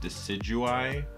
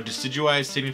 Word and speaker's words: Decidueye: Judging by the fact that I think it's named after a deciduous tree, I think it's supposed to be pronounced Decidueye, I guess.